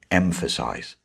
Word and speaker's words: emphasize: And the stress is on the first syllable in the word emphasize. Emphasize.